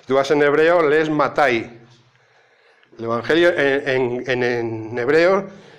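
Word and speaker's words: מתי: vas en hebreo, lees Matai. El Evangelio en hebreo, el Evangelio no es Mateo, es Matai.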